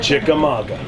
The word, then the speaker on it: Chickamauga: me scool you man you know it's wrestling and then there's rasing okay it's chika Chik Maga perfect I got it I